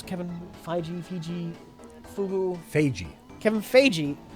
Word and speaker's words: Feige: In an interview recently, how do you pronounce Kevin Feige? Feige.